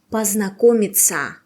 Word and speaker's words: познакомиться: «Приятно познакомиться» Pay attention «ПознакомиТЬСЯ» And how to say in Russian «Is it your car?» Attention!